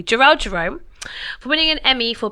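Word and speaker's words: Jharrel Jerome: like to give a round of applause to jerel Jerome why is that difficult to pronounce cuz I was Gerald Jerome I don't know why I come with energy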